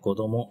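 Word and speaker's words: 子供: ஸோ குழந்தையை குறிக்கிறதுக்கு கொதோமோ அப்படின்ற ஒரு வார்த்தையை உபயோகப்படுத்துவாங்க. சொன்ன மாதிரியே இங்கே கோ அப்படின்ற உச்சரிப்பு கொடுத்துருக்காங்க.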